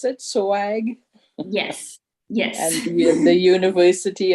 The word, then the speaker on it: SOAG: Is that how you pronounce it? SOAG?